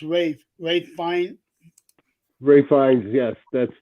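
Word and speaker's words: Ralph: yeah yeah um well no I think it's pronounced Rave Rave fine refines yes that's the guy that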